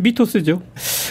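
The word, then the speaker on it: μύθος: 지금 미토스죠. 거기 세타 발음도 조금 바뀌었어요. 그래서 미소스 뭐 이런 식으로. TH.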